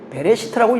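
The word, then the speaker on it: בראשית: 그래서이 배자가 들어갔는데 이걸 전치사라고 그러는데 이게 이제 베레시트도 그렇습니다. 원래는 그냥 레시트 이렇게 읽어요. 보통은 기본형이거 그래요. 근데 전체는 베레시트라고 읽습니다.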